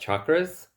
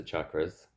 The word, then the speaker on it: chakra: oh by the way the word is not chakra a lot of people uh who speak English say chakra It's written in the Roman alphabet. It's written with a ch. And ch is not sha in most languages. It's cha.